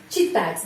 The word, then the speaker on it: читать: Di sini tidak susah ya, karena di sini tidak ada huruf O, huruf Y, tidak ada. Huruf ini gampang dibaca. Читать. Terus T tanda pelemah selalu pengucapannya C, C, читать. Seperti huruf T sama S.